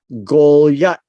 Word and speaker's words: Goliath: in the hebrew it's uh gol got right golyat it's it's spelled this way gol yat now how did we get goliath right here now much of our hebrew names